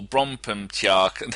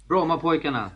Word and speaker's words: Brommapojkarna: The first team you played for, Brompemtjark. How do you say it? Brommapojkarna.